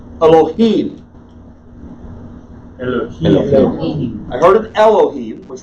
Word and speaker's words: Elohim: D here and so English speakers are going to say hello E now put the emphasis on the first syllable which is incorrect and they will give it a full vowel sound which is incorrect I will teach you